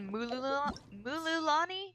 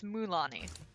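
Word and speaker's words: Mualani: I used to say Mululani. That's not how you say it at all. It's Mulani.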